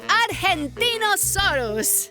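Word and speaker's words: Argentinosaurus: evo i'm angie the argentino soros whoa that is a big name for a big dino i have to break it up to say it right r gen team oh sore us that's me so i'm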